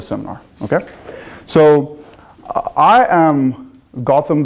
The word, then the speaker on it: Gautam: have seen this before Gotham is pronounced as in Batman like Gotham like Gotham City and is